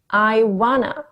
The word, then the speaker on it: wanna: I want to를 I wanna, I wanna. 그러니까 T의 T 소리가 N의 소리로 바뀐 거예요.